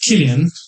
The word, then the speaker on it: Cillian: It's pronounced Killian.